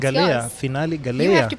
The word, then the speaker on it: Finali: So you have to pronounce Galaiya. yours. Finali Galaiya.